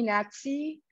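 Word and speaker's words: Natsy: Please call me Natsi. That's spelled N-A-T-S-Y.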